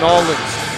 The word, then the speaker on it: New Orleans: most talked about wrestlers to ever emerge from new orleans louisiana that is the correct pronunciation by the way john i know you